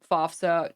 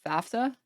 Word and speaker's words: FAFSA: the people who get FOFSA just don't. Some of the people who get FOFSA don't ever. I thought it was FAFSA. Is it FAFSA? I don't know why I'm thinking it's pronounced FOFSA.